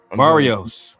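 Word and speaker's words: Barrios: How do you pronounce his name? I forgot. Barios.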